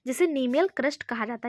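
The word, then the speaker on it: cnemial: नीमियल crest इसमें लिखा है, सी शायद इसमें साइलेंट है, सॉरी।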